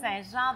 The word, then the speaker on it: St-Jean: Et à ta droite, c'est Saint-Jean. Donc, Saint-Jean de chez Blao. Est-ce que je le prononce comme il faut?